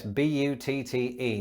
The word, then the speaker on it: butte: And it's probably quite an appropriate pronunciation because buttes are often beautiful, or at the very least, stunning.